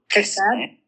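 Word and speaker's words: חסד: chesed chesed Spit more for me. chesed chesed chesed You got to get a little bit of that guttural going in the back of the throat.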